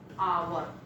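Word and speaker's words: hour: जैसे कई एग्जाम्पल्स यहाँ है, आवर है, हावर नहीं कहेंगे इसको, हावर हम नहीं पढ़ेंगे, ये रॉन्ग है, इसको क्या पढ़ेंगे? आवर।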